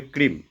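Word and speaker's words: ক্রীং: আছে ঠিক সেইভাবে লিখবেন বীজমন্ত্রটা লেখা আছে ক্রিং আর কিছুই নয় সংস্কৃত উচ্চারণ হবে ক্রিম কয় রফ কয় ফরা দীর্ঘ চন্দ্রবিন্দু ঠিক এরকম করে লিখুন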